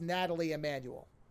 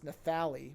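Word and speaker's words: Nathalie Emmanuel: have her name uh I'm assuming it's supposed to be pronounced Natalie Emanuel it's spelled with a th so I don't think it's nathali but it could be so I will I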